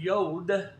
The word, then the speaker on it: Yod: So just remember that Yod for Yogi, and I'll help you pronounce it better.